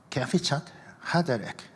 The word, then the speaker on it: 캐피차트 하데레크: 그래서 캐피차트 하데레크 이렇게 발음을 합니다.